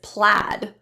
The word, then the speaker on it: plaid: for this a sound an example is plaid so be careful of the spelling AI we also have the